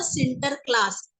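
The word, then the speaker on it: Sinterklaas: महत आल आणि Saint Nicholas का डच म प्रोनाउंस होता ते होता सिंटर क्लास नी सेंट निकोलस जो शब्द है तो शॉर्ट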